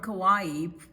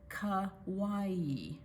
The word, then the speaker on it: Kauai: Salt from Kauai preserves ancient ways.